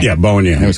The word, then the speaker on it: Bowen Yang: Bowen Yang. Yeah, Bowen Yang. I always called him Yo and Bang.